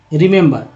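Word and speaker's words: remember: तीनों ई जो यहाँ पर देख रहे हैं, पहला ई जो उच्चारण क्या करें, रिमेंबर। पहला ई छोटी के रूप में, दूसरा ई ए के रूप में, तीसरा ई अ के रूप में।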